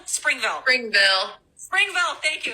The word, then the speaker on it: Springville: Is it Springfield? Springville.